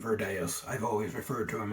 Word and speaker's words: Virdeus: Because of its Latin origins, I call him Virdeus.